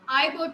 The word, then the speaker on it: Igbo: Many of his characters are members of Igbo tribe. ठीक है, इसमें जी जो है साइलेंट है, ट्राइब कबीले को कहते हैं।